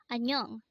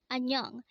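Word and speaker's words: 안녕: you in an informal manner next word is annyeong again it's annyeong this is used to say hello or goodbye in an informal manner again anyong is used to say hello or goodbye in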